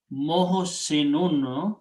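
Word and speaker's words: محسنون: But the important thing is that you have to pronounce mohsinun. If you stop, you say mohsin.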